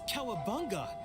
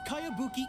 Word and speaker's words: Kayabuki: this is a really strange name who's this cowabunga it's pronounced kayabuki ek that would be me outlander brigade is